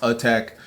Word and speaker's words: ATAC: What they got, the ATAC, the ATAC, but it's spelled ATAC, but it's pronounced attack.